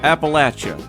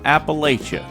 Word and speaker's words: Appalachia: home let's clarify one thing right now it's pronounced appalachia not appalachia easiest way to remember is if you pronounce it appalachia someone will throw an appalachia that's funny in